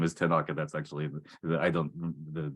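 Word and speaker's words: Tenoch: I've been saying Tina quarter his name is tenak which is cool because that's name is actually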